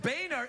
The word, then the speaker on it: Boehner: border I know it's I keep forgetting it's pronounced Boehner it's a genuine mistake you know Boehner he's the new Speaker of the House turn-ons